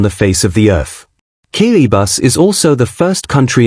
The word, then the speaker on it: Kiribati: Kiribati, pronounced Kiribati, is the least visited country in the world according to the United Nations World Tourism Organization.